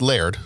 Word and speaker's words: laird: It's pronounced Laird, but that's fine.